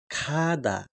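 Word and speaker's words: 가다: गै अनि शब्दको चाहिँ वाक्यको अगाडि आउदा चाहिँ के हुन्छ? ख उच्चारण गरिन्छ र वाक्यको पछाडी तिर आउदा ग उच्चारण गरिन्छ। जस्तै कि हामी यहाँ देख्न सक्छौ। अनि खादा खादा भनेको के हुन्छ?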